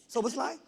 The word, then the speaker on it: Szoboszlai: How do I say How do I pronounce Szoboszlai? Is that the right way? Yes. Szoboszlai?